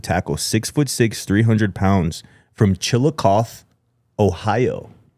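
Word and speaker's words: Chillicothe: Connor Rutherford, a 2027 offensive tackle, 6'6, 300 lb from Chilikoth, Ohio. Wow, nice pronunciation, bro. I think it's Chilikothy. No, it's Chilikov.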